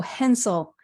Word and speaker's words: Henczel: your surname correctly oh Hensel so like pencil pencil yeah the C is silent right sort of okay